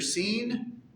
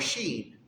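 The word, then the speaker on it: שין: Ayin, Pei, Tzadeh, Kof, Resh, and then that W-looking little thingy, depending on where the dot is pronounced either seen or sheen.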